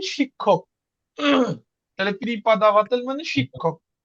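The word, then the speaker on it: преподаватель: আমরা সবাই জানি আজকে নতুন একটা ওয়ার্ড শিখব পিরিপাদাবাতেল পিরিপাদাবাতেল সবাই একটু বলেন পিরিপাদাবাতেল উচ্চারণটা এমন হবে দেখেন পিরি পি আর ই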